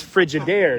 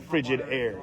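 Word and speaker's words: Frigidaire: It's the emphasis is on the wrong syllables, right? It's frigid air, not frigid air.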